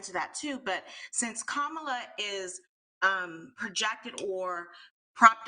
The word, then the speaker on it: Kamala: was for you well first we have to pronounce her name properly so it's kamala i know i think everyone is entitled to